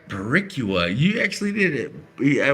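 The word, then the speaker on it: Boricua: I couldn't even pronounce it when I was sober. All right. Baricua. Is that right? Baricua.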